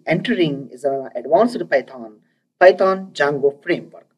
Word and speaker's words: Django: And now we are going to be entering is an advanced Python Django framework. D is silent in this word called Django framework.